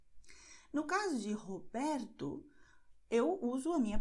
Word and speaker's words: Roberto: Então, Roberto, Romário, Rodrigo. Você vê que para essas palavras, a primeira letra R no começo eu usei a garganta e para a segunda eu usei a ponta da língua.